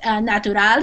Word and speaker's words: natural: but in this case the word natural and nature it actually in English we say it almost like we're saying a CH sound so it's like CH like a CH sound even though it's the TU there does that make sense